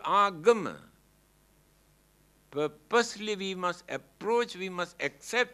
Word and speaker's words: agama: very meaningful word here now they pronounce as ugama but the original word is agama ah means purposely gamma